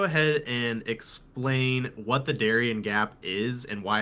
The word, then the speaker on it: Darien: now here I am, and I've gone to both sides of the Darien Gap, or Darien, you know, as it's pronounced here.